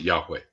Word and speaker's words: Yahweh: or whatever which ya means you but they pronounce it Yahweh yeah yeah it's yeah I knew that but